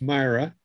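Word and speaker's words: Mira: And it's pronounced Myra.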